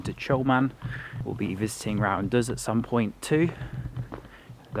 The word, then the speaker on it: Rawanduz: We'll be visiting Rawanduz at some point too. Did I pronounce that correctly? Yeah, Rawanduz Canyon.